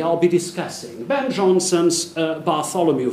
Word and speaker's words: Bartholomew: be discussing Ben Johnson's Bartholomew fair or as it would have been pronounced by Johnson in his contemporaries bar Tony fair first performed in 1614